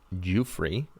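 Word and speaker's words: Giuffre: American woman Virginia Roberts now Virginia jew-free I believe is how that's pronounced alleged in a sworn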